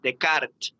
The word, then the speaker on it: Descartes: como la forma correcta de tomar café, es Descartes, Descartes, Descartes. Descartes. Claro, es que en realidad es una tendencia reciente esta de pronunciar los apellidos tal cual la lengua de origen, ¿no?